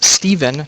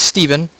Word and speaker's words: Stephen: Hello everyone, I am joined by Jenadel, also known as Steven, not Stefan. I apologize, I mispronounced that. I've never seen PH pronounced as a V before. So his name is Steven, and we are going to play a game here.